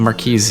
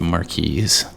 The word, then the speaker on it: Marquise: And I know it's not pronounced Marquis. That would be, if it's a man, it would be the Marquis. Duh. But since it's the feminine form, that is indeed Marquise de Cat.